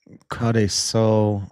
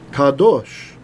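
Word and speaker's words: קדוש: I put Kadeso, listen in Hebrew. Hebrew pronunciation. Shalom, welcome to the Biblical Hebrew Word of the Day. Today's word is kadosh. Oh, I said it totally wrong.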